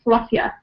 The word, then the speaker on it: Philadelphia: even um when when locals are pronouncing the full name of the city they say it a little bit differently we sometimes say fluffia I'm from fluffia Pennsylvania so instead of saying Philadelphia very clearly we might say we